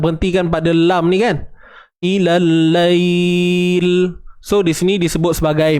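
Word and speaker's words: إِلَى اللَّيْلِ: Tapi apa-apa pun bacanya tetap ilal lail, itu sahaja. Usah pening-pening, ya. Boleh? Atau itu je lah. Habis dah, tak ada cerita apa. So jawapannya alif lam syamsiah.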